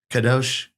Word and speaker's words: Kadosh: Is that pronounce it? That's what I thought. Just like in the book. Kadosh.